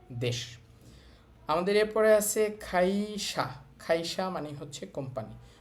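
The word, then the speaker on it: 会社: খাইসা মানে হচ্ছে কোম্পানি। ওই যে আমাদের ক লাইন শুরুতে আসছে। এজন্য খ এর মত উচ্চারণ করতেছি আমরা।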